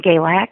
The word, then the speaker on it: Galax: In Galax.